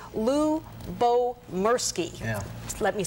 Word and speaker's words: Lyubomirsky: including the um publisher to find out it's Lou Bo mki yeah let me say it correctly couldn't she